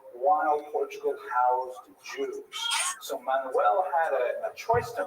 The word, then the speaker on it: Manuel: But luckily for today, the only Portuguese king we're going to talk about is Manuel, which is pronounced Frank. No, Manuel.